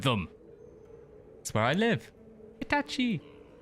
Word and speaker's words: Hitachi: Hitachi. Or Hitachi. Never pronounce the chi for some reason.